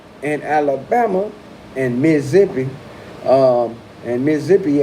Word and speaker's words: Mississippi: Certain parts of Arkansas and Alabama and Mississippi, and Mississippi ain't got no Z's in it, but that's how you say it, okay?